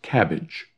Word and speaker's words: CABG: bypass with grafting and we shorten that to cabg pronounced cabbage so a cabbage is